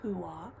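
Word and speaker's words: Huath: It's spelled like hueth, but I believe is pronounced hua.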